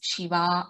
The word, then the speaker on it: Shiva: So it is not Siva. It should not be pronounced as Siva. It is Shiva only.